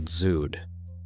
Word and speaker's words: dzud: The dzud, pronounced "dzud", is a specific Mongolian weather phenomenon with no direct translation in English.